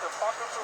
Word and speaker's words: Apocrypha: That's how you pronounce it, Apocrypha?